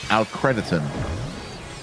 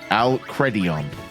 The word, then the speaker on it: Alcredion: One from K Watka and one from Alcrediton. Alcredion. Yeah, that's how you pronounce that.